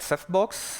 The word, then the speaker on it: CephBox: We call that CephBox for now. Yeah, the name is quite obvious, right? You know, a Ceph cluster in a small box, and it rhymes with Dropbox.